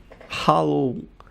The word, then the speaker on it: Halo: Se pronuncia Halo de Aurélia veio para ficar, pelo menos em 2018.